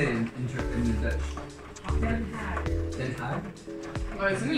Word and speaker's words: Den Haag: Den Haag.